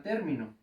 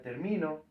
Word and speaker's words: término: de aquí se llama término importante poner un acento en la é porque si no diría término entonces ahorita no no